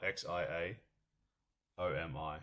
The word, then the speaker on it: Xiaomi: How do you how do you spell it? I can't say it's on the phone, but Oh, X I A O M I.